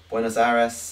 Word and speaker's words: Buenos Aires: No, you don't roll your R's in Spanish. Well, you do, but you don't roll on that R. Buenos Aires.